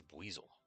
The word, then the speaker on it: Buizel: I say it's Buizel because he's a water weasel.